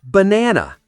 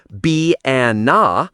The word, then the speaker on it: banana: Let's take the word banana. We don't say banana or banana. The correct stress is on the second syllable. Banana. Right?